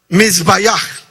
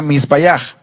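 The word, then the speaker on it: מזבח: The altar is, there's a Hebrew word, and it says, and it's pronounced mizbayach. Hay una palabra en hebreo que se pronuncia misbayach, That means altar in que Hebrew.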